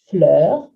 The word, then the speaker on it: fleur: 10 expressions that have the French word for flower, fleur, with that somewhat tricky E to pronounce.